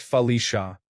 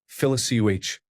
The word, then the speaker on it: Felicia: Her name was Felicia, pronounced Felicia. I saw her write her name while leaning over to help with homework. I immediately pronounced it as Felicioh.